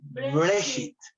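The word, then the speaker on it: Bereshit: Listo, Breshit. con T al final. Breshit.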